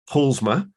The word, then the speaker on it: Paulusma: a Polly and I've just checked how to pronounce her surname and it's PMA so you uh you basically uh leave out